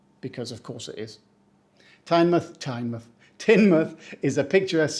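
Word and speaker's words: Teignmouth: again down in Devon we pronounce it tinmouth we don't say tinmouth or touth or tanm which you know could happen the time part is the red herring just say tin and because mouth it's actually MTH because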